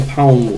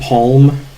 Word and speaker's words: palm: And it's got some palm wood. You guys say palm or just palm? I used to say palm, but now I might say like palm. I've started pronouncing the L explicitly there.